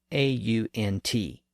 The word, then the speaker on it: aunt: Think about the pronunciation of the word spelled A-U-N-T. Some people say ant, and some people say aunt.